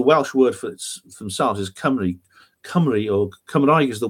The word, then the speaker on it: Cymru: Cymru is the name with a Y at the end is the name of the people, and Cymru with a U at the end is the name, which is pronounced the same in Welsh, is the name of the country.